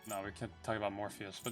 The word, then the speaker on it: Morpheus: it but it's pressed morphine it's actually Morpheus is the only way you would pronounce that but it just sounds weird to me because I'm so used